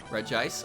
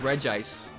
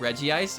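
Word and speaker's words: Regice: even though it's pronounced regis even though i print out i pronounce it like there's two eyes in its name like reggie ice it's regis it's not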